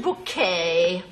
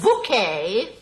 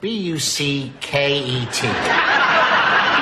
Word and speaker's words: Bucket: Richard Bouquet, we have a reservation. What was the name again, please? Bouquet. That's spelled B-U-C-K-E-T.